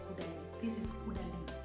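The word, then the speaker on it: Caudalie: In my other video, I mispronounced this one. I called it Kudali, which is not Kudali. This is Kudali.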